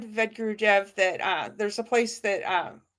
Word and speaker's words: Vedagurudev: The A is silent, Vedagurudev.